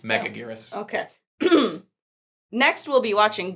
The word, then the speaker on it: Megaguirus: How do you pronounce that? Megaguirus.